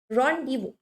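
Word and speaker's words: rendezvous: रॉन्डिवू pronunciation थोड़ा सा अजीब है लेकिन यही है, ठीक है।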